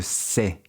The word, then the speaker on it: cê: In informal speech, você often gets shortened to se, and está usually gets shortened to tá.